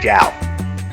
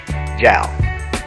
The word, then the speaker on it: JAL: It's pronounced JAL. JALFPV. Skittles, will you say it with me? JAL.